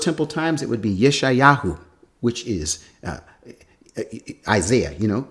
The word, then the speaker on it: Yeshayahu: over in first Temple times it would be Yeshayahu which is Isaiah you know and then in